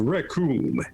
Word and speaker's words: Raccoon: My name is Raccoon. It rhymes with doom.